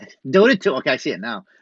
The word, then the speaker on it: Dota 2: Dota 2. Okay, I see it now. Dota 2.